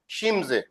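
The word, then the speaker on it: Ski: है आपका शी देखो इसकी नहीं पढ़ेंगे इसको के साइलेंट रहता है इस ध्यान रखना स्की नहीं है ना इंग्लिश में स्की होता है जर्मन में शी पढ़ेंगे शी शी ोड उल्ला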